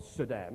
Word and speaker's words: Saddam: Saddam Hussein killed 500,000 children.